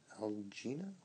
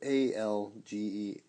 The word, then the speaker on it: Algenio: But Randy Santel, Wayne Algino, it's Algenio, and then Nathan Figueroa.